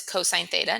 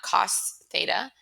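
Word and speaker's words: cos θ: Cosine of theta, we write it as cos theta, but we pronounce it as cosine theta, not cos theta.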